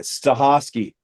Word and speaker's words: Stachofsky: Stikovski, is that how you say it? You're you're muted. That's it. Stahosi, but yet so So you've escaped, in other words.